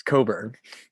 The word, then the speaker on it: Coburn: Oh, is that actually not how it's pronounced? It's Coburn.